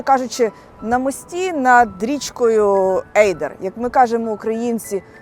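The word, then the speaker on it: Adur: на мості над річкою Ейдер. Як ми кажемо українці, адур. І для мене це незбагненна загадка, чому Арун пишеться Арун і читається Арун, а Адур пишеться Адур, а читається Ейдер.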